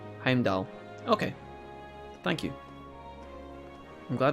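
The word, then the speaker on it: Heimdallr: Don't say the R and you say it right. Heimdall.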